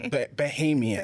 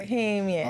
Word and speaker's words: Bohemian: And did I pronounce Behemian? Bohemian.